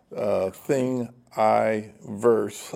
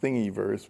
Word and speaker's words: Thingiverse: there is a thingiverse thing I verse I think I verse okay you'd think it would be pronounced thingy verse but it's I think they pronounce it thingiverse there are other repositories